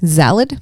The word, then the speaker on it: Zalad: It's like salad with the Z. So ZALAD. Zalad?